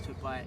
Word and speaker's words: Tobais: So if you pronounce the A properly, Yeah. it's Tobais. Okay. So, Tobais. yeah, Tobais.